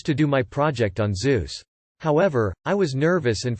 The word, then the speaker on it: Zeus: I chose to do my project on Zeus. However, I was nervous and for some reason referred to him as Zesus, Jesus with a Z.